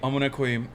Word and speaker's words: amına koyayım: Oh, that's that is how Americans say amına koyayım. Amına koyayım is a Turkish curse. It means I'm gonna fuck your pussy. Very common Turkish slur that you say, and it sounds like I'm gonna queef, so people say that.